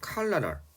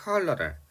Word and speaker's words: cholera: 자, 우리가 콜레라라고 하는 거, 영어 발음은 조금 다르죠. cholera, 뭐 이렇게 발음해요. cholera.